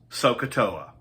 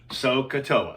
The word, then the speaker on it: SohCahToa: And from this is where we get this acrostic, this memory device, which people pronounce SohCahToa. SohCahToa, SohCahToa.